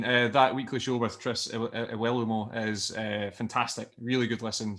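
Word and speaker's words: Iwelumo: Doing a weekly show with Chris Iwalumo at the moment. Is that how you pronounce it, Craig?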